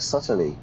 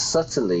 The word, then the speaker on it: subtly: the food I inquired subtly into notice subtly yeah the B is silent subtly subtly not subtly